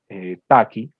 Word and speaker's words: Tukey: Este fue inventado por un estadístico que se llamaba Taki, se escribe Tukey, que fue el mismo